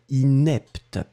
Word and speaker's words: inepte: Le premier inapte, d'accord, et le deuxième inepte. Inapte, inepte.